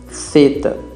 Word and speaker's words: θ: Θ, θ, θ, θ. A letra θ tem o som de TH do inglês, como em thanks.